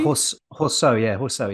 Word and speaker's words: Horseau: Horseu? Or Arthur Horseu. Horseau, maybe? Horseau, yeah, because you don't do in the French, you don't do the overuse of the AU.